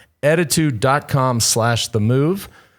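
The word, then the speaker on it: ettitude: you visit attitude and let me just spell it for you e t t i t u d e little bit like attitude attitude dot com slash the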